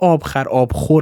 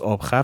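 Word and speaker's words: آبخور: The term pronounced "ābkhar" is really "ābkhor" but is read "ābkhar" to ryhme with "shekar" in the next hemistich.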